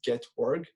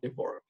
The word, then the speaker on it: Gevorg: And my name is pronounced like the words Gevorg. So it's kind of like Gevorg.